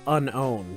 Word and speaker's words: Unown: but still like like i just realized it's called unown so it's like unknown but it's like it's like